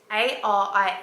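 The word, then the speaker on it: Arie: through them I've got Ari which is a r i e but it's pronounced like the letter R and then e Ari and I know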